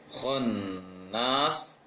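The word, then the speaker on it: خناس: Kemudian yang ayat kelima, khonnas, khonnas. Jadi yang bulat, yang agak membulat sedikit adalah kho. Masuk ke tasydid nun, bibir langsung agak melebar. Kho, khonnas.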